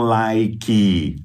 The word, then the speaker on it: like: Então, se tem uma sílaba, fala com uma sílaba, like. Basta, então, você colocar essa